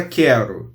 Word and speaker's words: quero: Na palavra quero, eu não pronuncio U. Então, o QU é dígrafo consonantal.